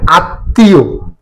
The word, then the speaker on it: আত্মীয়: আচ্ছা, এবার আসছি আত্মীয়। আত্মীয় মফলা যদি কোনো শব্দের মাঝে বা শেষে যুক্ত থাকে, অধিকাংশ ক্ষেত্রে যে বর্ণের সাথে যুক্ত থাকে সেই বর্ণটা দুইবার উচ্চারিত হবে।